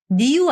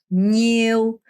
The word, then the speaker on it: nhiêu: bao nhiêu, 니우 안 돼요. 니우 안 되고요. 냐 혀가 이렇게 천장을 이렇게 쓸면서 nhiều, nhiều, nhiều 이렇게 발음하셔야 돼요.